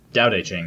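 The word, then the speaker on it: Tao Te Ching: the the daodejing that it was said the doubt a chain even though it's spelt tau mm-hmm and the Dow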